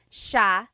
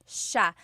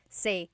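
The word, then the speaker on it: siya: It's sha sha. The s i y combination makes the sha sound in tagalog. Some regions say sa but in the luzon central luzon area in the tagalog region it's sha sha.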